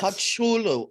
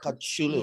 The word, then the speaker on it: Kocoglu: Kachulu. yeah, Kocoglu. Kachuglu. Silent G with a ch, the C with a line underneath is this ch Kachulu.